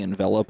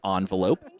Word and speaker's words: envelop: in hand to play the envelop in darkness or you can call it an envelope if you wanted to